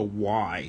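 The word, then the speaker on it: wye: a triangular junction um it's called a y it's spelled w-y-e and railroads use it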